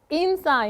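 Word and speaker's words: 인싸: What is insa in Korean? It's actually a short word for insider, but in Korean pronunciation, so it goes like insa.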